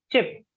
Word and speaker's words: chip: The chip that we eat has a short sound, okay? Chip or chips. Chip. But when I'm saying cheap, it is a slightly longer word.